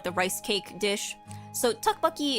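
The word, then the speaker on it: tteokbokki: So, tuckbuckucky is actually spelled with like two T's at the beginning when it's romanized because it's different than if it was um like it's a different word, I think, a different sound than if you just had one T.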